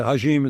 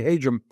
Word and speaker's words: Hajim: It's hard to pronounce. Everybody wants to make a hashim. It's really Hum.